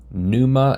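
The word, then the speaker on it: pneuma: So, I named it um Numa and fire.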